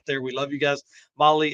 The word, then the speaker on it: Mahle: Molly is spelled Mahle.